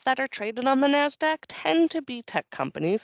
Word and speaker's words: NASDAQ: systems although in conversation most people just go by the phonetic pronunciation NASDAQ much shorter in the last quarter